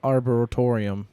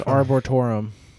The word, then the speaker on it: arboretum: Because I call it arboretorium the first. Oh, couple you times. did? Oops. Yeah. Well, that deserves me. It was arboretum. No, definitely not. It's arboretum. That's how you spell it. ABORETUM. Arboretum. Arboretum. Trevor had it right.